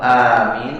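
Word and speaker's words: آمين: Amin atau amin atau amin? Amin. A-nya panjang kemudian tidak ditahan di mimnya. Amin.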